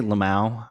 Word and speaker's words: LMAO: I normally say Lamau. I don't know why I decided to opposite of phonetically read it that time.